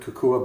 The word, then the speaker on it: Kokua: And Brian, pronounce the name of the company you work with. Sure. I work with Kokua Bikes USA. Kokua, okay.